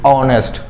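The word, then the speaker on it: honest: इहदे विच H silent है जी, are they विच भी एच साइलेंट है, तां इहनूं आपां की बोल रहे हैं जी ऑनेस्ट, तां इत्थे ओ दी आवाज आ रही है जाने कि ओ साउंड कर रहा, तां आपां लगाता एन।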